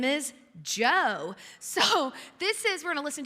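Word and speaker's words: Djo: It's the song called End of Beginning by the artist Joe. Now listen, it's spelled D-J-O, so I did homework to make sure I'm not a loser and didn't know how to say his name.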